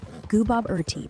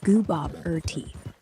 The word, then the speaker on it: Gooboberti: Gooboberti pronunciation. Gooboberti. Goo as Goo Goo Baby, Bob as name, as question, T as drink.